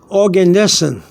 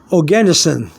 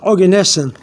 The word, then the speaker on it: Oganesson: small G um is the chemical symbol for organes capital o g a n e s s o n okay now some people some people pronounce it organisin but organes and um and the chemical symbol for that